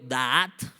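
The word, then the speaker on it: da'at: sabiduría viene del hebreo daat con acento en la primera a es de doble a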